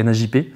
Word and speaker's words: NAJP: pour ça que maintenant c'est NAP même si ça se prononce pas ça me permet de